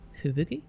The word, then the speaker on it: Fubuki: Fubuki.